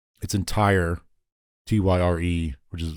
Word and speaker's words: Tyre: But like, there's one instance, it's in Tyre, Tyre, which is like Tyre. It's Tyre. It's pronounced.